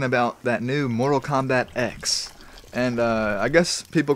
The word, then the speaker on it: X: created mortal kombat and he said that it's pronounced x but he knows that a lot of people are going to call it 10 because the last one was called 9 and